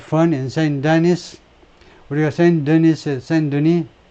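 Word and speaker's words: Saint-Denis: 우리가 Saint Denis, S는 발음하지 않고 Saint Denis에서 우리가 아주 재미있는 것들을 갖는다.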